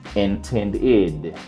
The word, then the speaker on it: intended: We add our ending, intended. This ed is going to say id because it ends in a D.